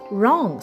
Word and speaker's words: wrong: Next word we have is wrong. Spelled as W R O N G and we pronounce it as R O N G. Wrong.